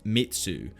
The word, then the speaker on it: metsu: The blade has the character for slay, pronounced metsu, which can also mean destruction in the Japanese language.